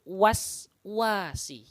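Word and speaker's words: الوسواس: Ini perlu diperhatikan bahwasanya ketika sin sukun ini tidak ada pantulan, tidak boleh membaca dengan mantul. Wase, nah gitu tidak boleh. Wase, wasi, se-nya dihilangkan. Yang benar adalah min syarril waswasi.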